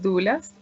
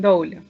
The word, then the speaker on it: doula: papel que hacemos las dulas protegiendo la lactancia materna. Entonces, para empezar, compartir qué es una dula, porque no todo el mundo lo conoce, ¿no? Algunos pronuncian dula y otros pronuncian doula.